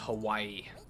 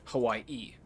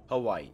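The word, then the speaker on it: Hawaiʻi: freak out so yeah the reason that there's an apostrophe in the name Hawaii is because the second I is the beginning of another syllable it's not just Hawaii so pronounce it properly Hawaii Hawaii e what I need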